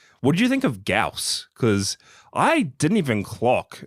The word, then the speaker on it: Gyaos: Gaus. Gaus. Gaus. You don't pronounce the Y. It's just figuring this out for you now. It's Gaus.